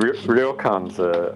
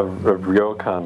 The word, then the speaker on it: ryokan: I have trouble pronouncing the ryo. Ryokan. They are cheap, and they are great places to stay at.